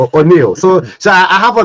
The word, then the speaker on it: O'Neal: okay yes I like the fact that you pronounce my name correctly O'Neal so so I have a new Chinese investor